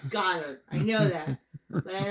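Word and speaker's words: Goedert: It's Goddard. I know that. But I like to say Goddard.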